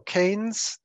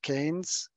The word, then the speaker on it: Keynes: economy and lightning overview so canes pronounced King I'm sorry k e y m yes pronounced Keynes in the 1930s from